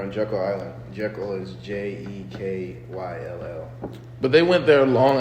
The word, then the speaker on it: Jekyll: It's spelled Timacun, something like that. They're on Jekyll Island. Jekyll is Jekyll.